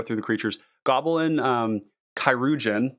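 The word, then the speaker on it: Cuirgeon: the creatures Goblin um kirugen that's how you say it by the way um this is like a an old I think it's like old French or English that basically it means a surgeon it's like a battlefield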